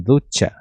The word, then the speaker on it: ducha: É a pronúncia desse CH, ele tem o tom de TCH, então seria assim, ducha.